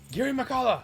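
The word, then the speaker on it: Girimehkala: that name and I never knew how to pronounce it. And I said, thank God he yells it out loud. He goes Giri Makala, and I was like, oh.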